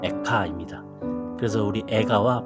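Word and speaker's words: אֵיכָה: 예레미야 선지자의 슬픈 노래입니다 히브리어로이 애가 성경의 제목은 에흐카인데 빨리 발음하면 에카입니다 그래서 우리 애가와 발음이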